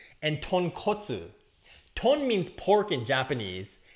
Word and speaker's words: tonkotsu: And that's the difference between tonkatsu and tonkotsu.